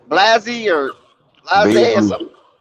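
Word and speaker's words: Bazley: Blasey or Blase or something? How you say his name again? Baisley.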